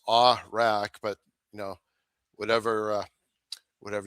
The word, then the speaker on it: Awrach: And yeah, last name pronounced Awrach, but you know, whatever whatever you like.